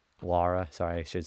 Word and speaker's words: Lara: Laura. Lara. Sorry, I should say Lara. That's how you pronounce it.